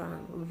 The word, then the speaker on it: wrong: Ya, what's wrong?